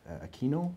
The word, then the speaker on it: Aquino: Apparently his chief, Aquino is the way we pronounce it, basically did what we call a butt dial.